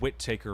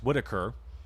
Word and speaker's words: Whitaker: I said wit taker originally. I apologize. Whitaker with the delivery there.